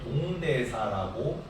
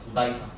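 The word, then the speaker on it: 東大寺: 그 불교는 나라 시기에 엄청 큰 절이 지어지는데 동대사라고 한자로 읽고요. 이거를 도다이사라고 읽어도는 읽어요. 다 도다이사 도다이사 같은 큰 저리지어지기 해안식은 안 나옵니다.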